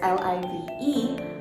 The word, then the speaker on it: live: i sound liv and the second l-i-v-e has a long i sound live so the difference between